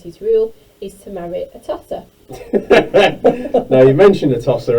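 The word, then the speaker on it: Atossa: not being related with a tosser. Yes. Is that? Are you doing that on purpose? Is that how you pronounce it? That's how you pronounce it. It's not a toaster or something.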